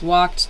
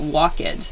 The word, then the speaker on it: walked: I just said walked you can hear it's not walk it be careful with this